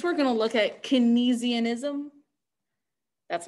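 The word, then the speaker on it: Keynesianism: the 1970s next we're going to look at kinesianism that's not a fun word to say out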